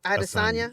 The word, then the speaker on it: Adesanya: I don't know how to say Asanya. Okay, Adesanya. Yeah, don't put it- Adesanya.